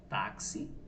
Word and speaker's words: táxi: mais de um fonema por exemplo palavra taxi Vou colocar aqui táxi nós pronunciamos táxi existe isso aqui ele tem som de KS é porque se pronunciasse